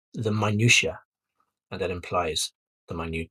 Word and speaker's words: minutiae: is first is a minutiae these are the tiny details so the clue is in the pronunciation it's it has the word minute in it it's like the word